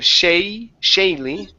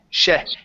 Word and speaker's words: Shelly: Instead of Shaylee, okay, it's Shelly.